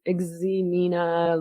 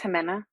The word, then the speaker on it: Ximena: I don't know how to say her name, Ximena Lopez, I think it's Jimena. Jimena.